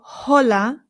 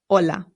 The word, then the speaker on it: hola: It's important to note that the H in Spanish is always silent. No exceptions. So, we don't say hola. It's just hola.